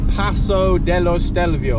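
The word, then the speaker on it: Passo dello Stelvio: gentlemen here we go Paso Deo stelvio is how they say it in in Italy and we say bloody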